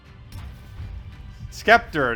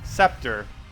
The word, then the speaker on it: scepter: Skeptor. The sea is silent. Scepter. Oh, did I say Skeptor? I actually do know that. Scepter.